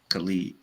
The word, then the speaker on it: Khalid: It's not Khaled, it's spelled like Khalid. Oh, Khalid.